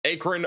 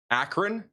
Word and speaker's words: Akron: Akron, Ohio, please.